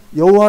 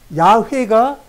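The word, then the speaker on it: 야훼: 여호와 여호와 라고 했죠 여호와는 우리 나라 말 운영 중국 번역의 음 여기고 정확할 양 해야 해 그러니까 야외가 정확한 발음의 발음으로 말하면 야외가 근데 이게 중국 빠르므로 중국 바로 여호와 예 예 근데 그대로 우리 음역을 했기 때문에 여호와 라고 말하는 거야 양회 인대 나에게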